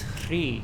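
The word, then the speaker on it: Hrīḥ: And the seed syllable is Hri.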